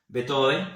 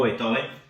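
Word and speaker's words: Beethoven: de eso empezaba con betove o betoven como dicen algunos Pues yo digo betoven porque el español se lee como se escribe me enseñaron a mí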